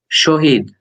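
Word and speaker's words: শহীদ: Okay, we start by saying is sho. The first letter pronounced like sho. Then he. Shohi. Does it ring any bell? Shohid.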